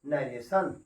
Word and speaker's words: narration: टी को यहाँ पर भी हम लोग सा पढ़ रहे हैं, और इसका उच्चार हो गया नरेशन।